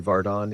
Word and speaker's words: Vardon: Harry Vardon is quietly surging, now at -1 through 13, matching George Duncan, who's off to a steady start.